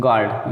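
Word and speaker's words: guard: गार्ड you silent, guilty जी के बाद यू आया है,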